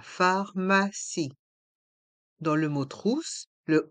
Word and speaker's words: pharmacie: pharmacie la trousse à pharmacie dans le mot trousse le O et le U se prononce ou la Crousse a pharmacie le P et le H se prononce fe comme la lettre F et le i à